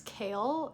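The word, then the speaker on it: Chaol: And we've met Dorian, and his name is not Cole, it's Kale.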